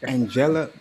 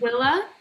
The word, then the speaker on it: Anguilla: You said in Angela. What do you call? How do you pronounce it? Anguilla.